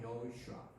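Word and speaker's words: יהושע: 우리는 사투리 발음을 쓰고 있지만은 그 동네 발음으로 예슈아 또는 여호슈아 이렇게 한다고 했죠.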